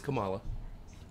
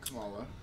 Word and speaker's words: Kamala: Which, by the way, I'm so irritated at all of you that call her Kamala. It is Kamala. Right, Kamala. Right. Put the right emphasis on the right syllable.